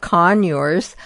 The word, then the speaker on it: conure: But one thing about conures, we'll spell it for everybody who may not know.